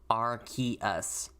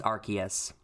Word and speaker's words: Arceus: They changed, that's the only Pokemon that I can think of off the top of my head where they've actually legitimately changed the pronunciation of it after they released the Pokemon. Because it used to be Arceus, and they're like, oh wow, Arce is a bad word. So we're going to change that.